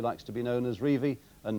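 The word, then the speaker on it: Revie: that Don reevy likes to be known as reevie and not revi testimonial games we've got three more of them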